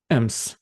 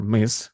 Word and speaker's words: Ms: why people start using M or Miss more often pay attention uh to pronunciation you should say it as m not miss m uh based on uh